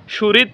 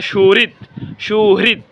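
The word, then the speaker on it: সুহৃদ: এখানে সুরিত বলি আমরা, সুরিত হবে না, এখানে সুহৃত। হৃদ HRI হ্রি সুরিত। আর একটা শব্দ আপনারা দেখতে পাচ্ছেন, হৃৎপিণ্ড আমরা সকলে বলি, এই শব্দটাকে আমরা বলি হৃৎপিণ্ড।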